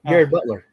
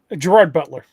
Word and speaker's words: Gerard Butler: Oh, Gary Butler. Gerard Butler. Yeah. Gerard Butler. Gary, Gerard, how do you pronounce it?